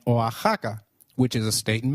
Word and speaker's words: Oaxaca: as X in flexible it is pronounced as a throaty h in the words Mexico Mexicano and Oaxaca which is a state